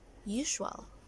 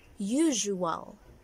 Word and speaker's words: usual: Some of you would actually say usual. The right pronunciation for this is usual. This is my usual thing. Usual. Like zzz, usual.